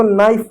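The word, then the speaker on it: knife: किया तो वहां पर के हमेशा साइलेंट होता है। जैसे शब्द देखो जैसे इसको नो पढ़ते हैं। के नहीं पढ़ते कानो नहीं नो पढ़ते हैं। इसको नी पढ़ते हैं। के साइलेंट होता है।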